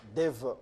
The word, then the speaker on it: Dave: Bah, ça s'écrit Dave, ça se lit Dev. Bon, Dev Mafoula, vous êtes président d'un parti politique, les souverainistes.